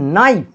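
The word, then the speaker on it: knife: আবার দেখো নাইফ, না আসছে, দন্তের ন আসছে, কনসোন্যান্ট সাউন্ড, সুতরাং এ হবে, অ্যাকচুয়ালি এই কেটা সাইলেন্ট রয়েছে।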